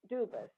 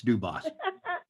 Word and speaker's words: Dubos: on my next guest is duas dubas did I say it right as long as they don't call me late for dinner that'll work it's dubos okay so and I said